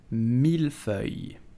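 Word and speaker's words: mille-feuille: real French accent so you will simply say milfei so pronounce it carefully the second word is difficult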